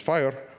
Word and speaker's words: FHIR: HR is open EHR just like fhir is pronounced fire open EHR is pronounced